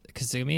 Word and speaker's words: Kasumi: didn't like what Tekken is I think because Kasumi is how you pronounce her name the girls because I think